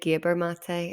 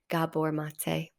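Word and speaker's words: Gabor Maté: hard and it's intense I said his name wrong of course I said gabber mate and I was quickly corrected Gabor mate trust me to say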